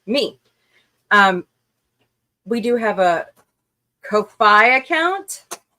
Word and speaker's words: Ko-fi: We do have a Ko-Fi account. Ko-Fi, yeah.